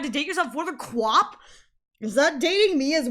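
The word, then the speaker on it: QWOP: I don't know if it's pronounced Quap, but that's what I've always called it, Quap.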